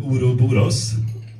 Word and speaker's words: Ouroboroz: Vi heter ju Ouroboroz. Nu sa jag hur det uttalades, så nu spoilar jag det.